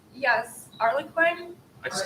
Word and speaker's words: Harlequin: Like if you look at those Harlequin novels, is that how you pronounce that? Harley Quinn? Yes, Harlequin.